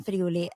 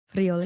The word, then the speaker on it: Friuli: my husband in New York, but he's from Friuli, and then the Can you pandemic. say it again? Friuli.